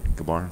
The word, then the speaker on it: Gabara: I say it right, Gabara? Yep.